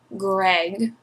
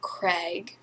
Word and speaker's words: Greg: Greg, not Craig, which is the issue I have, so it's Greg Isles, I think.